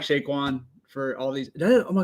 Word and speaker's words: Saquon: That sounds Saquon? I finally said it for the first. I said it right for the first time. I always want to call him Shaquan.